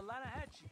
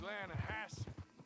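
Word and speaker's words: Lannahechee: The Lanahatchee. It runs right near here. Yeah, but it's pronounced Lanahassee.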